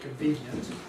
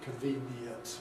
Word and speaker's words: convenient: Americans always do seem to feel this as a yod, convenient, whereas Brits usually pronounce it as a yod, but sort of tell you, well, this is really E, convenient, but reduced.